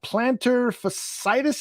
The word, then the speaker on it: plantar fasciitis: It's plantar fasciitis. Is that how you pronounce it, Dan?